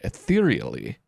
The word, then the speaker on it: ethereally: They're pronouncing it ether. Enhance both bearer and crystal-based magic. Sorry, I had to think about that for a second. I've been saying aether, but it's ether, I believe.